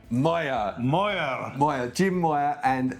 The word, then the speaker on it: Moir: Bay I'm here with Mo oh said that was a kind of French pronunciation it's no it's a Scottish name and it's pronounced Moyer Moyer moer moer Jim Moyer